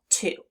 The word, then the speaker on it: to: The word is to.